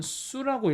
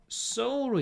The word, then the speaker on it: sew: 이때 이거 여러분 수라고 읽으면 안 돼요. sew로 읽어요.